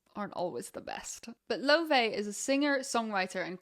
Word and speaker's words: Laufey: and her name is Laufey. But internationally, a lot of people also pronounce it Laufey. But I will try my best to pronounce the proper Icelandic version.